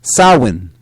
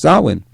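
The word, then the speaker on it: Samhain: an ancient Celtic Festival known as s San pronounced sawin all right pronounced sawin the Festival of sawin is a celebration of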